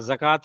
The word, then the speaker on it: ज़कात: हाँ, वाव जो यहाँ, वाव साइलेंट रहेगा, और इस पे ई है। आपको ऐसे लिखना है, ये अरबी का वर्ड है।